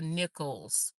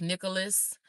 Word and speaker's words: Nichols: Now, we're not mad about it, but we want people to know our name is the Nichols. The Nichols. A lot of people call us Nicholas and everything else, but that's okay.